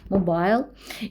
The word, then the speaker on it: mobile: Или же mobile phones, это произносится как и mobile, так и mobile.